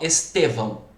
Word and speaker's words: Estevão: Se fosse o nome próprio Estevão, qual que é a sílaba tônica, pessoal? Estevão. É o T, não é?